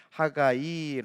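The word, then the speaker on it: חגי: 학 아이 라고 읽어요 히브리어로는 학 아이 라고 읽어요 축제 절기의 사람 이라는 뜻이에요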